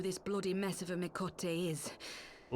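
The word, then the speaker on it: Miqo'te: Wait, that's how you pronounce Mikote? Mikote. I've already forgotten how she pronounced it correctly.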